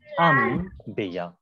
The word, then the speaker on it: انبیاء: انبیاء لفظ صحیح نہیں ہے بلکہ انبیاء. البتہ البتہ لکھا جائے گا انبیاء، یعنی نون کے ساتھ لکھا جائے گا، لیکن جب پروناؤنسیشن اور تلفظ اور ادا کیا جائے گا تو وہاں کے اوپر اس نون کو سائلنٹ کر کے آپ میم کے ساتھ تلفظ کریں گے اور ہلکے سی غنہ کی آواز بھی باقی رہے. غنہ کی آواز یعنی نون کی آواز.